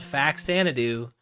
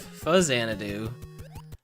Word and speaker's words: Faxanadu: make way more sense that's called fax sadoo instead of fuz zanadoo because you call the famicom famicom and not ficom so that's that's my defense for the pronunciation of faxanadu so and yeah I